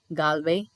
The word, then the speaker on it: Galway: So this is ஹவ் you pronounce டோனெகால், கால்வே, Mayo, ஸ்லைகோ.